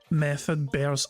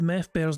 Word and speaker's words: Meth Bear: who says I second method Bear's statement now I'm not the one that butchered meth bear's name there okay R it was the one that called meth bear method bear so yeah you can